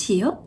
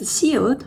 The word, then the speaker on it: 시옷: This is 시옷. It sounds S sound, like safari.